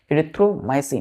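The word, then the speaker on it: erythromycin: क्या करना है, तो पहला इसको क्या करना है, ब्रेक करना है इस वर्ड को, ERYTHRO, इरिथ्रो, MYCEIN, माइसिन, इरिथ्रोमाइसिन। Clear है?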